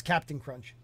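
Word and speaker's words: Cap'n Crunch: i thought it was captain crunch well that's that's that's that is the abbreviation of captain so that's still pronounced captain crunch but was it always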